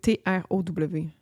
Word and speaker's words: Trow: Throw Road. C'est T-R-O-W. Trow Road.